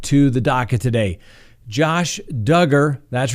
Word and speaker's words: Duggar: the daca today josh duggar that's right rhymes with hugger certainly not pronounced dugar we certainly learned that